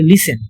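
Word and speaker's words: listen: আছে তো আমরা কি বলি লিসেটেন আমরা বলি লিসেন টিতাটা বাদ দেওয়া হয় এরকম বাংলাতেও আছে আরবিতেও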